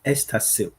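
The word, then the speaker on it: Easterseals: when you are pronouncing it can you please spell it so that people will also get it as well. Okay. So Estasil E A S T E R S E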